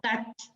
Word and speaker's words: Tkach: La T no se pronuncia. Kach.